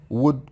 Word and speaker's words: would: should could will would be careful don't say should would could the L is silent main verbs examples eat